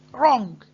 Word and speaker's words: wrong: Wrong. And again, wrong is easy. Wrong. Don't forget that this letter is silent.